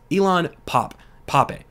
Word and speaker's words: Ilan Pappé: Here from Jeremy Scahill, famed historian, and I can never pronounce his name correctly, but I think it's Ilan Pappé, okay, says that he was detained on Monday